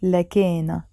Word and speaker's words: لكن: لكن. Then. Or so. Sometimes we pronounce it لكينا.